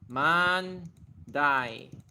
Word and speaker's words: Mandai: Mandai is actually pretty easy. Just man and then die. Mandai. Pure Chinese pronunciation borrowed from Chinese.